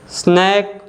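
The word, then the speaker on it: snack: कोई आवाज़ ही नहीं बना रहा है, सी साइलेंट है। नेक्स्ट वन है स्नैक, हैक, हैक में भी जो लेटर सी है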